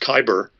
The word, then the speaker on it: cyber: Cyber is a funny Greek word, probably really should be pronounced kyber, which has to do with control.